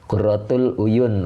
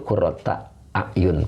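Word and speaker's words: قرة أعين: Tiksop ya qurrata uyun, oh gitu. Qurratul uyun Ustadz boleh, qurratul uyun. Oke. Ya, nah, sama dengan di Qur'annya itu qurrata a'yun, Pak, ya.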